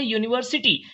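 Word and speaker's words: university: Next word की बात करते हैं यूनिवर्सिटी। स्पेलिंग होती है स्टार्ट उसकी यू से, लेकिन प्रोनाउंसिएशन उसका या का होता है, जो एक हिंदी का कॉन्सोनेंट है, जिसकी वजह से हम इसके साथ ए का यूज करेंगे।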